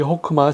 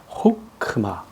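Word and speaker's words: חכמה: 설명드렸던 5오 단목 5입니다 그래서 한 세개 정도 단어가 단모음 올이 사용되는데 그 중에 하나가 이게 해트 아에 있는 이거 이게 오입니다 아가 아닙니다 호크마 그래서 이것이 음절이 되겠습니다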